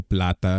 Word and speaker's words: plata: Plata. Wait, say it again. Plata. I couldn't understand it. Plata. Plata with a P. There we go. Yeah. Plata. Oh, like Lobo Plata is like Silver Wolf.